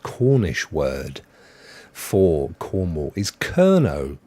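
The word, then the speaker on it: Kernow: word for Cornwall is kerno k-e-r-n-o-w which I suppose if you say kernel kernel kernel it kind of sounds a bit like it I'm not suggesting that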